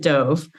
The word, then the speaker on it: Dove: And I pronounce it Dove.